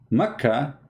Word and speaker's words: Mecca: Mecca became Becca. Mecca became Becca. But how that can be? You cannot change the name. The answer is very simple. Becca is how it is pronounced for some people.